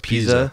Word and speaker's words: Pisa: have the leaning tower of how do you pronounce it? Piazza or pizza or whatever. Leaning Tower of Pisa.